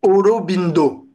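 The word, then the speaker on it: অরবিন্দ: dire le lotus robindo parce que les a dans dans le bengali sont prononcés o les V sont prononcés comme des B et les S sont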